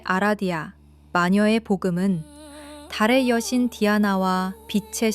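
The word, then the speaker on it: Diana: 영어권 통용 발음인 다이아나 루시퍼 아라디아를 라틴, 이탈리아어 원어에 가까운 발음인 디아나 루치페로 아라디아로 명명합니다.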